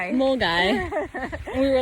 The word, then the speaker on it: Milngavie: How we just learned how to pronounce Mulgai. Mulgai.